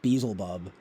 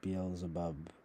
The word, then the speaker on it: Beelzebub: The title of that book, though, in all seriousness, comes from fucking Beelzebub, or what? No joke though, or Beelzebub, however you pronounce it.